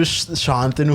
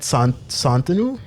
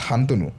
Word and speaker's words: Santanu: actually, that's not the correct way to pronounce it also. Is it Santanu? Then? Why did you make the H silent? I don't know. There's no H. Yeah, there's no Oh, H. There's no H. So, Assamese people don't have the sh. They can't pronounce that. Like, we don't have in our vocabulary. So, most of the time when you say Shantanu, it's actually in Assamese, my name is Hantanu.